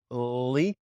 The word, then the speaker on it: Leif: I was going to start with that and ask you about your name, because it's spelt weird in a way where my brain always jumps to go lay, and it just throws it out there.